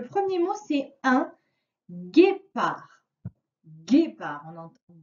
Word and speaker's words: guépard: À la fin de guépard, il y a un D qui est muet. Donc, si tu l'oublies, c'est